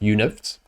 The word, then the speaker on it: UNFT: So the U stands for utility NFTs and it's pronounced UNIFTs.